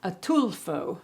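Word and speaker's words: Ataulfo: There's another variety which is delicious called and I had to look up how to pronounce this, but it's atulfo, the atulfo mango, also known as honey mango, which is really, really good.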